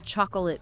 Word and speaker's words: chocolate: Trying too hard to say every single letter in words like chocolate or comfortable. Native speakers often drop or blend sounds chocolate comfortable.